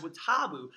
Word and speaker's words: WoTaBu: exactly what it is as well so guys what taboo is spelled wo ta bu and it's actually an